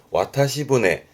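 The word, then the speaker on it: 渡し舟: 발음이 와타시부네. 이번에 뒤에 니골이 붙어서 와타시부네입니다.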